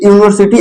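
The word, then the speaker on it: university: तो यूनिवर्सिटी आपको देखकर यू एन आई वी ई आर एस आई टी यूनिवर्सिटी है।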